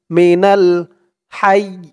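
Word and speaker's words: الحي: দিয়ে লাম ধরবে, নাল, মিনাল হাই, হা দিয়ে ইয়া ধরবে, হা ইয়া জবর হাই। এই যা চিহ্ন হতে থামার কারণে উচ্চারণটা এমন হবে, খেয়াল করবেন।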